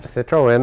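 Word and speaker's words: Citroën: here well this is a Citroen uh Citroen Citroen that's the correct pronunciation uh I've uh three years ago purchased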